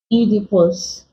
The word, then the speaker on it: Oedipus: fetus amoeba estrogen okay Oedipus from Oedipus Complex to pronounce it as the long e sound then we also have